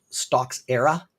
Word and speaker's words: Stocksera: It's called Stocks Era.